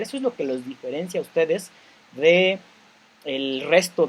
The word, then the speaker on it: diferencia: Cuando yo digo diferencia, la palabra diferencia no tiene un acento en la RAE, no está descrita como una palabra con un acento en la I. No se dice diferencia. ¿Por qué? Porque no tiene acento en la I. Entonces es diferencia. Aclarando que se pronuncia como diferencia, continúo y cierro paréntesis.